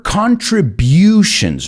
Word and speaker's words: contributions: Her contributions, no butions, sino butions.